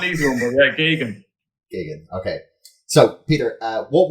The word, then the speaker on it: Geoghegan: That's how you pronounce it? Yes. Okay. Because I was, No, it's not an easy one, but yeah, Geoghegan.